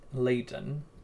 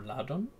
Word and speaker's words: Ladon: a dragon greek mythology known as leyden or ladon depending on pronunciation may have given this